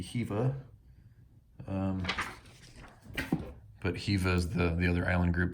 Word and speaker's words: Hiva: There's actually a pronunciation. I's or E pronounced like E, so it would be Hiva.